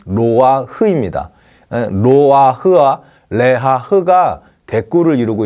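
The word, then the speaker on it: נֹחַ: 해당하는 히브리 단어가 레하흐입니다 로아라는 이름을 정확히 발음하면 로아흐입니다 로아 흐아 레하 댓글을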